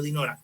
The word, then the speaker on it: Dinora: Entonces, en este caso es grave la palabra Dinora, acento en la penúltima cita. Bueno, Dinora, entonces la pregunta 10, vamos a leerla entre los dos.